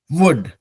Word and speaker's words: would: वुड, WOULD, वुड। तो ये WOULD वुड और WOOD वुड, लकड़ी वाला वुड, दोनों का उच्चारण सेम ही होता है।